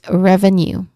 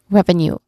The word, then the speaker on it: revenue: So, think of the word new to help. That's um a tip that I can give. Okay. So, again, this word is revenue. Revenue.